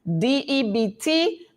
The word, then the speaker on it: debt: DEBT, the B is silent.